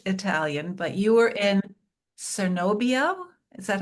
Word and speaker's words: Cernobbio: I don't speak Italian, but you were in Cernobbio. Is that how you pronounce Chernobyl. it? Chernobyl. Cernobbio.